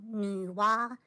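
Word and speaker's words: 女娲: It's called Nuwa and Fuyi.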